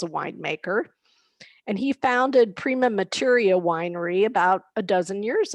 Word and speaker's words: Prima Materia: pietro and you can correct me on this pronunciation hi trisha thank you for having me prima materia materia so i wanted to tell our readers